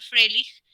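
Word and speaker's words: Fröhlich: Fíjense que no se pronuncia, a pesar de que se escribe Froelich, se pronuncia Froelich con E, una E cerrada, porque la O con diéresis se pronuncia E en alemán. Este es un apellido alemán.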